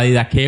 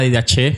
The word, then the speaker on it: Didaché: o tenemos artículos como la Didaqué o la Didaché, como lo quieran pronunciar, que fueron escritos desde el siglo I, que tenemos copias al día de hoy.